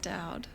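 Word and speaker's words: Daud: No, how do you spell it? D-A-U-D. Yeah, of course it's pronounced Dowd.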